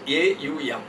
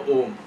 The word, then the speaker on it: Om: So, there is what you call it is a u m. The pronunciation is a u m. Aum. A plus u becomes o. So, Om.